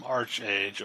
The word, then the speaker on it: ArcheAge: So, speaking of that, I played some ArcheAge, or ArcheAge, I think is how it's pronounced correctly.